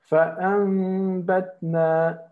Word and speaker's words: فَأَنْبَتْنَا: So it means that this noon transforms into a meme. Okay. Because there is a bet on in front of it. Okay. So here we will pronounce it like this. فَأَنْبَتْنَا فَأَنْبَتْنَا okay. فَأَنْبَتْنَا your lips should be like this. Yes, very good. Your lips should be like this. You don't completely close them.